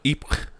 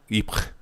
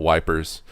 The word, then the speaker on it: Ypres: as a reference to Ypres, the city of France there. And I always thought that was really funny. The Americans didn't even bother pronouncing it, just call it Wipers.